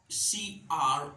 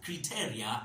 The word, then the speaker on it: criteria: There is also another word like C-R-I-T-E-R-I-A. It is not criteria, it is criteria, Yes, and I have my surprise word today.